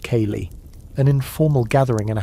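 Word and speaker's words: ceilidh: Historians still argue about the true life was the winter chain, pronounced kay, an informal gathering in a house for music, stories, and news.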